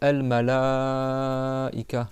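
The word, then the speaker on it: الملائكة: Al malaika, je parle du a, tu prolonge le temps de quatre doigts.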